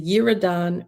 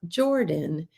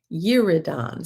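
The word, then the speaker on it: Yiradan: When they reached the threshing floor of Atad, which is beyond the Uridan River, not Jordan, Uridan, spelled Y I R A D A N.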